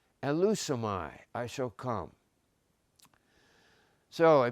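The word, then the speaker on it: ἐλεύσομαι: And here's how it's pronounced, elusomai, I shall come.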